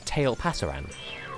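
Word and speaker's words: Tailpasaran: Like, it's the future tense of tail pasar, meaning the tail will go.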